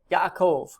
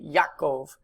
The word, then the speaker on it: Yaakov: Below that, the proper name Jacob, Yaakov. Sometimes when you hear people say this in like modern Hebrew, it just sounds like one A, Yaakov, but there there are technically two A vowels there, so Yaakov.